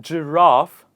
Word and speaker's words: giraffe: In the word giraffe, I pronounce the R sound, but in the rest